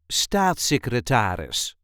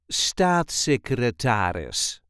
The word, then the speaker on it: staatssecretaris: This is the way we say start secretaris start secretaris. There is a light emphasis on the first syllable.